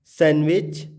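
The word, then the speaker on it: sandwich: तो रूल बता रहा है कि एन डी प्लस कॉन्सोनेंट, तो डी क्या हो जाएगा? साइलेंट। तो हैंडसम, सैंडविच, ग्रैंड मदर, इसको हम ग्रैंड मदर नहीं बोलेंगे, इसको हम बोलेंगे ग्रैंड मदर।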